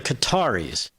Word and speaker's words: Qatar: Is there a right way or wrong way? Because the the people are the Qataris, right? Okay. So Qatar is better.